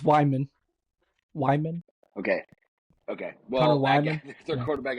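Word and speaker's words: Weigman: What is it, Wiegelman? Weigelman? It's Wyman.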